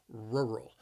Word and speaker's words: rural: area a rural area the word has two syllables and the stress is on that first syllable rural the the word is challenging because of those two R's in their rural rural say it with